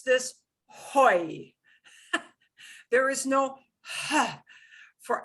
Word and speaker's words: hoy: we're going to practice these together we never pronounce this hoy there is no ha for aceh the next